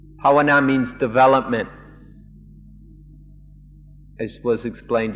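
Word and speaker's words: bhāvanā: it pronounced yesterday bana one is a western pronunciation one a Thai pronunciation pawana pawana means development as was explained yesterday is concentration.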